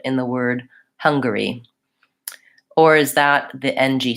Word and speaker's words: Hungary: stress schwa huh mmm-hmm so the ng my own sound and then the G sound hunka so hyung I it's not an N it's an NG hunga hunga Hungary curry I think that's just a vowel or Hungary Hungary yeah I don't really say an A in there and yes many dictionaries will mark this Erlich Hungary Hungary as a vowel schwa and an R so you'll see it